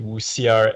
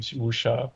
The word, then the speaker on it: Wuxia: didn't know until, or I pronounce it interchangeably, Wuxia and Wuxia, because the thing is,